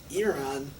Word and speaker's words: Iran: Why are all the vowels so long? It's Iran, Iraq, and Arabs.